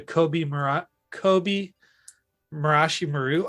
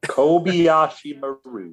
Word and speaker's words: Kobayashi Maru: I think back to the Kobe Marashi Maru. Oh my God, I can't even say it right. Kobayashi Maru.